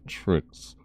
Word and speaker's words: Trix: I think it was one of the community managers who said it's pronounced Tricks or whatever, unless I'm mistaken, but yeah.